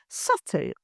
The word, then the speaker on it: subtle: Subtle, used frequently in business writing or presentations.